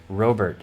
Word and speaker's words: Robert: I really think the closest is Robert. If you're going to say it with a strong American accent, it's Robert, because Robert would be French and Robert isn't really anything like Spanish.